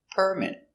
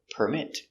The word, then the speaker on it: permit: phone very good example permit it's a noun the stresses on the first syllable permit permit to build you need a building permit now we have a verb permit the stresses on the second syllable permit I don't permit